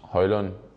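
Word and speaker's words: Højlund: on could you just give us the correct pronunciation of your name so they can do that uh yes my name is Rasmus hoyland I hope you got it right now yeah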